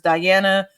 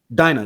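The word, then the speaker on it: Dyana: uh observance of co-founders Diana Williams uh Kenneth Gamble and Ed Wright. And each year it drives home. And Dina Williams. Who? Dina. It's pronounced Dina.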